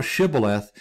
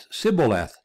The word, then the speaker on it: Shibboleth: And then they said unto him, "Say now Shibboleth," and he said Sibboleth, for he could not frame to pronounce it right.